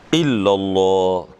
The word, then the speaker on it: illallah: Illallah tuh ditekan illallah namanya.